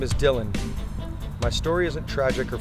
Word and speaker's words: Dylan: spit that hot fire my name is Dylan afterall pronounced properly like Bob Dylan though that year my